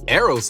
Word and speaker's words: Eros: involves towards a goal Eros love or Eros love depending on how you want to pronounce it describes the kind of